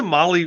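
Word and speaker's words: Mahle: And for those podcast listeners, Molly is spelled M-A-H-L-E.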